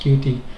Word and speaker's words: Qt: So, it's it's pronounced QT.